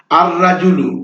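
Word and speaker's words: الرجل: একটি লোক আর রাজুলু আর রাজুলু লোকটি আর রাজুলু এখানে কিন্তু লাম হরফটি উচ্চারিত হল না দিকুন মানে একটি মোরগুন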